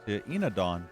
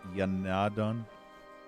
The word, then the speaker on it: Enadon: Ooh, litany to Enadon. I remember when I first called it Yanadon or Yindon, Yanadon or Yinadon. Until the game actually pronounced it so that I could actually say it properly.